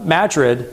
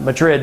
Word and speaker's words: Madrid: Richter scale at New Madrid, not Madrid, but Madrid, I think is how they pronounce it.